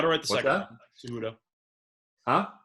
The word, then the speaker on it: Cejudo: Cejudo.